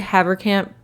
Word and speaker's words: Haverkamp: named jimmy haverkamp now i've heard haverkamp pronounced two different ways haverkamp and haver camp i'm gonna say havercamp because that's the way i've been saying it in my head all through my research